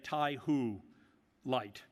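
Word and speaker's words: TaihuLight: Jack um dangara uh taught me to say taiho light uh to my Chinese colleagues I hope that that is least near the right pronunciation Peak Performance 125 pedop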